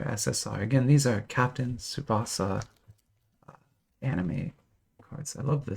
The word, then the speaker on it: Tsubasa: Let's open another Captain Tsubasa, which is, I'm pronouncing that Tsubasa, but it's spelled TSU. TSU is a phenome that is pronounced kind of like suit like that. And it's a common phenome for Asian languages, but not so much in English languages. So we're not used to saying that sound as often, but in